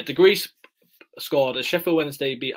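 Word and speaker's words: Degryse: one nil and I don't know how you pronounce this last name is it Degrassi the Greece degrees Yeah degrees scored a Sheffield Wednesday beat Arsenal one nil on the 8th of April 1996.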